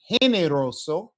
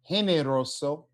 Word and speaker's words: generoso: For the ones that are not color coded, these are our H sounds. Generoso, Egipto. Okay. Generoso, Egipto.